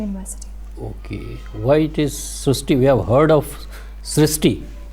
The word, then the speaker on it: Srushti: We have heard of Srishti, but this is a very unique name, Srishti. So in Marathi, the word "ri" is pronounced as "ru," so that is why the pronunciation goes Srishti.